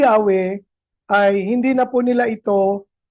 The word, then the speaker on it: Yahweh: So yun po dahilan kahit alam at recognize na nila na ang tamang pagbikas ay hindi po Jehova kundi Yahwe ay hindi na po nila ito pinalitan.